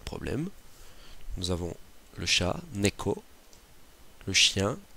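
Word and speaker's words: 猫: là, qui comporte 11 traits, qui peut être prononcé neko, byo ou myo.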